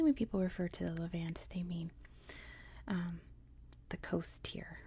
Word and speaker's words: Levant: So we are in a region known as the Levant, at least that's how you say it in American English, where we have Israel and the Palestinian territories.